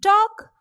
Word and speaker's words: talk: Similarly, in talk, the silent alphabet is L.